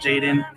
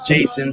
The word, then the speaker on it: Jason: saying your name wrong it's not Jaden it's Jason so I want to